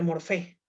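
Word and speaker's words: μορφή: Jóvenes, en griego la materia se pronuncia ile, y la forma en griego se pronuncia morfé.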